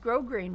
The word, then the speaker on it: grosgrain: so onward we have a very very wide grosgrain ribbon that's the one that's spelled gross grain it's pronounced grosgrain grosgrain ribbon